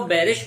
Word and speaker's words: Bayerische: दोस्तों ये वैसे स्पेलिंग जो इसके हैं वो BAYERISCHE है, पर लेकिन इसे पढ़ते जो है वो बैरिश पढ़ते हैं।